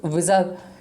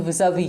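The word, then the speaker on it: vis-à-vis: रहा है कि यूजर्स विजा, इसको विज पढ़ते हैं लेकिन इसका सही प्रोनाउंसिएशन विजावी है।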